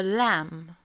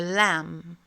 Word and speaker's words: lamb: Autre exemple où le B se prononce pas. A lamb. A lamb.